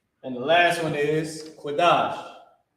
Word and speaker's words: Qadash: And the last one is Qadash. It's locked here. I was about to put Quashai. It's Qadash.